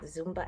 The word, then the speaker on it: Zumba: It's Zumba.